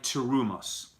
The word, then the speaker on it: terumos: Behold, says God, I have given you charge of my terumos, right? So terumos, plural, or in a different pronunciation, terumot, right? That's the plural of terumah.